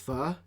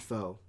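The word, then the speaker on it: phở: And I'm supposed to talk about my pho and my fried rice, but it's pronounced pho, not pho, number one.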